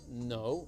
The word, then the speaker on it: know: Y pongan atención que la K en ese verbo know no suena. No se dice I don't know. No Es se una dice K muda. Exacto, es muda, el sonido es mudo, dice I don't know, I don't know.